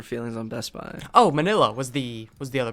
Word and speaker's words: Manila: know how to say manila I I thought it was pronounced weird but I think it actually is just pronounced mill miss Manila that's that's weird to me like Manila like manila envelopes it's weird to me